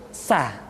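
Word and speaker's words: ث: huruf ta ta Hai diucapkan sebagaimana kita mengucapkan huruf tsa yaitu ujung lidah di antara dua gigi seri kita hai hai Hai diantara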